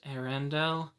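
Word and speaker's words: Arondir: which is funny because it's pronounced Arendelle I believe it's basically the spelling of my name with one less a and then Dell added onto it so I don't know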